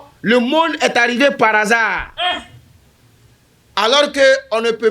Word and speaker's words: hasard: Est-ce qu'on peut écrire le mot hasard par hasard ? C'est pas possible parce que pour écrire le mot hasard même là il y a un hâ muet qui ne se prononce pas mais il faut l'écrire